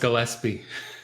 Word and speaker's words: Gillispie: I'm Michael Hoang, and today I'm here with Gillispie. Did I say it right? Almost Gillispie.